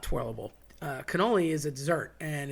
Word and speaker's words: cannoli: I always said cannoli, always heard cannoli, but my buddies that are from northern Jersey and New York area say gannol. And again, that C turns into a G. Uh no Gs involved, nothing about it, not a thing, but they will say that.